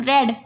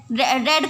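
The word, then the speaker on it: read: तो इसमें लिखेंगे ही हैज़ रेड। रेड को जब थर्ड फॉर्म के रूप में पढ़ते हैं तो उसे रीड नहीं पढ़ करके रेड पढ़ते हैं, हालांकि स्पेलिंग सेम रहती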